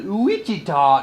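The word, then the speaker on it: Ouachita: mina arkansas to the uichita national forest and you have to say it that way because it's some kind of indian word and that's how they spell it so it's luigi ta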